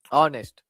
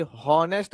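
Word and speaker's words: honest: vowel ಕೊಡ್ತಾ ಇದೆ ಸ್ವರದ್ದು ಆನೆಸ್ಟ್ ಇಲ್ಲಿ ಎಚ್ ಸೈಲೆಂಟ್ ಇರ್ತಾ ಇದೆ ಸೋ ಇಲ್ಲಿ ಹಾನೆಸ್ಟ್ ಅನ್ನಂಗಿಲ್ಲ ನಾವು ಹ ಅನ್ನಂಗಿಲ್ಲ ಹನೆಸ್ಟ್ ಅನ್ನಂಗಿಲ್ಲ ಅ ಆನೆಸ್ಟ್ ಅನ್ನುವಂತದ್ದು ಇಲ್ಲಿ ಉಚ್ಚಾರಣೆ ಮಾಡ್ತಾ ಇದೀವಿ ಸೋ ಹಾಗಾಗಿ ಆನೆಸ್ಟ್ ಅದ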